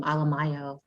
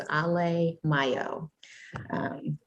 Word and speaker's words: Alemayehu: than how it sounds, I tell people to think of Alleluia and Cinco de Mayo, so it's Alemayehu.